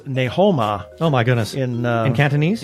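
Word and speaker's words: 你好嗎: So even though it, like, ni hao ma is hello, Yeah. it's ne ho ma.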